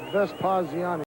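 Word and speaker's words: Vespaziani: Coach Vespiziani. Sorry, how do you say your last name, again? Vespiziani.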